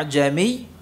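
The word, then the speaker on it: ءَأَعْجَمِيٌّ: muhaqqqah Wal Alif ya maka di sini hamzahnya dilafalkan dengan ya pengucapan antara Hamzah tahqq Hamzah jelas a dengan apa Alif jadi apa a ya bukan A tapi apa a a ya A ajami Ya A a a'jami ya dibaca ajami ajami ya ini hanya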